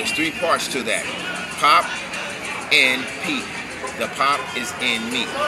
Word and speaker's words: Popin Pete: You got to pause. But people couldn't do it, so I'd taken away the hyphen and just say, okay, Pop and Pete. But originally, you used to say my name, Pop and Pete, because pop is in me.